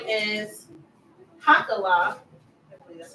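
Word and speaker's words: Hachaliah: family background, except that his father's name is Hakala. I believe that's how you pronounce it. Right? Nehemiah's father's name, Hakala? Hakaliah? Hakaliah.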